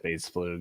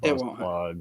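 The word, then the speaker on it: Bass Plug: It's pronounced Base Flug, not Base Plug.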